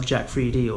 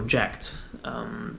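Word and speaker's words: Jack3d: school gym junkies, man, and that's Jack 3D or Jacked, which can be pronounced either way.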